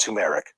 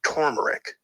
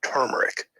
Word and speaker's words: turmeric: First of all, not pronounced turmeric, not even pronounced turmeric. No? It's actually pronounced turmeric. Okay, there's an R after the U, turmeric.